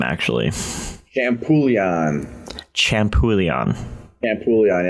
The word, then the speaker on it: Champouillon: your last name actually champoulian champoulion and pugliani like shampoo and chicken bouillon shaman coolion so uh today i'm here with uh ryder shampoo leon if i pronounce that